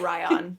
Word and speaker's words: Rion: And he pronounced it Ryan. Or Ryan. Ryan.